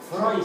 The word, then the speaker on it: Freud: El diptongo EU en alemán se pronuncia OI. Por ejemplo, ¿conocían a un... ¿Han oído el nombre de este psicólogo? Sigmund Freud. Son los freudianos, no. Se pronuncia EU, es OI. Se pronuncia Freud.